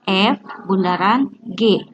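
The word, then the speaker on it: f∘g: ini kayak Bundaran G Jadi kalau kalian menemukan bentuk seperti ini evogue bacanya F Bundaran G fungsi f Bundaran G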